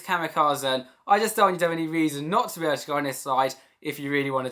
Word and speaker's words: Kamikazen: It is not Kamikaze, it's Kamikazen.